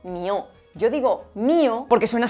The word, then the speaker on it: Mío Cid: Ojo, porque igual que en el texto de la canción esta palabra se habría pronunciado mió.